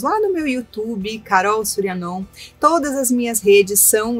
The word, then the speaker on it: Shuryan: então Carol con C normalmente a o surian on se escreve sh u fazendo su r y a n surian e depois o mantra